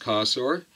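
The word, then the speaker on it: Cossor: Now, this is I think it's pronounced Kossor.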